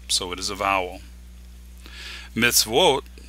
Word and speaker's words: Mitzvot: Mitzvot, meaning commandment, here the wa is at the beginning of a syllable, so it is a consonant.